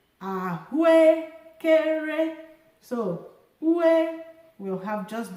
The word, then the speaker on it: ahụekere: Ahu, low, high, high, high, high. Ahụekere. However, because these 2 vowels have the same tone, I can just say ahụekere.